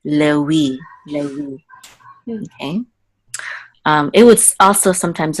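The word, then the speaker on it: לֵוִי: And also anciently, the vav was a wow, so it was pronounced like a W or a U. So this would be, instead of Levi, it would be Lewi.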